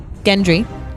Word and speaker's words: Gendry: Gendry.